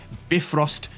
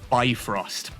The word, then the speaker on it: Bifrost: 100% it is Bifrost, not Bifrost.